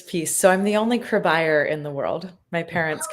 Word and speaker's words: Cribeyer: So, that's how I tell people how to remember to pronounce my last name is crib buyer.